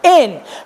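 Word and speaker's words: ἐν: Por ejemplo, tenemos la primera palabra que en griego es igual que en castellano, es en. Se pronuncia igual, en.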